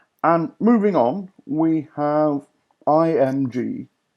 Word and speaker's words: IMG: And moving on, we have IMG. IMG is pronounced img. I don't know why. It sounds rather silly, but that's the way it's pronounced, as I've always been told.